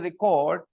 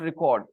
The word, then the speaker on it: record: okay it's a verb record is a verb and when I say record then it is a noun when I say record okay when I stress Ray the first part I say record then it is a